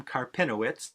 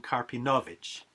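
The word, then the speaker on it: Karpinowicz: vilna stories by abraham carpinowicz or as i'm more likely to pronounce his name and as i think he would have pronounced it avram karpinovic these stories originally written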